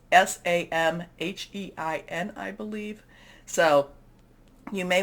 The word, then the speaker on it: Samhain: We are also in what's called Samhein. There's different pronunciations. I think I'm doing the Scottish pronunciation of this, but we can, there's different Celtic type of pronunciations. So Samhain, this is a time when the veil is very thin.